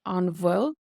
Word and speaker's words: an bhfuil: So the BH does have a V sound in Munster Irish, an bhfuil, and in the Standard Irish.